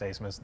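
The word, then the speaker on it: Abmas: I love Max Asmus, one of the best players in the country. That dude can shoot with Steph Curry all day. Yep, most confusing last name in the world. ABMS pronounced Asmus.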